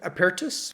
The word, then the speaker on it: Apertus: Another interesting and open model that came out is Apertus. I think that's how you would pronounce it, which sounds like Latin for open, and it is an open model.